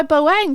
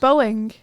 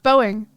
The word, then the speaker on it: Boeing: you mean what by boang hasz boang killed can you say boing please is that how you say it yeah Boeing yeah okay Boeing thank you I hate